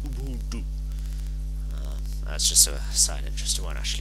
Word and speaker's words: Ubuntu: And it's technically pronounced Ubuntu.